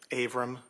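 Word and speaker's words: Avram: Aram. And would you spell your name for the record, please? Abram is spelled A V like Victor, R like Robert, A like Apple, M like Mary.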